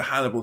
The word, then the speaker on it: Hannibal: so she's TR to Hannibal Lector whose name rhymes with cannibal which I which came